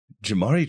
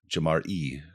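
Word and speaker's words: Ja'Marr: which is weird because I looked at his name and it's spelled Jamar Chase I don't know where the E Jamar e comes from cuz it's j a uh it's just j m r r yeah Jamar Chase is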